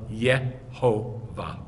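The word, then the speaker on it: יהוה: Then he found 16 rabbis by 2017 who talk explicitly about the fact that the vowels of the name are Sheva Cholam Kamatz. You can't pronounce it any other way.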